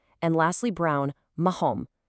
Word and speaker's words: marrom: And lastly, brown, marrom. Here that double R also triggers that deep guttural throat sound, marrom.